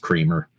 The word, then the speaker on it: Cranmer: It's spelled Cranmer. I mean, everyone I spoke with. So I went out to Pennsylvania, and I met some of his former neighbors. He died in the 60s in a house fire, and he was an old man at that time. But I met some of his former neighbors, and they confirmed it was Kramer. It's pronounced Kramer, even though it's right.